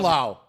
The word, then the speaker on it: Lowe: He's Brandon Low because it's Lau. It's Lau, right? Because it was Josh Lowe and Brandon Lau. Dude, it's spelled the same, and when I made